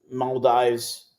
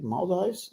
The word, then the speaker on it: Maldives: So I'm gonna be in Maldives, if I'm saying it correctly. Maldives? Am I saying it correctly? Maldives.